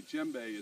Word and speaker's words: djembe: is a uh my my GBE is spelled Djembe so it's a silent D in case you're looking